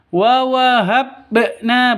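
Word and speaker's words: وَوَهَبْنَا: Kalau bacanya qalqalah itu seperti itu. Bukan mati terus dipantulkan, bukan. Wa wahabna, bukan seperti itu. Yang betul wa wahabna, habna, seperti itu ya.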